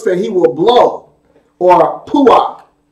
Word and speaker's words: puach: In Ezekiel chapter 21, verse 31, Yah again tells us that he will blow, or puach. It's spelled P-U-A-C-H, the Hebrew word puach, P-U-A-C-H.